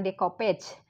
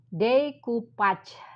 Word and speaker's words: decoupage: bahasa Perancis yaitu developer konon pengucapannya Bukan decopage tapi decoupage Hai decopatch ini eh